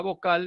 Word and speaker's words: vocal: Por ejemplo, en el caso de la palabra vocal, la palabra vocal es una palabra aguda, que no lleva tilde, pero es aguda, ¿de acuerdo?